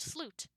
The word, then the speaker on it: slut: go oh it means the end and it's pronounced sloot and she goes wait really so chooses the